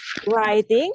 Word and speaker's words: writing: menulis menulis itu ada huruf ya di depan ya hurufnya itu gak diucap Iya wting writing Jadi bukan writing tapi writing itu silent W silent W w-nya itu silent dia ada di tulisan tapi tidak dianggap saat dibaca Oh meny jadi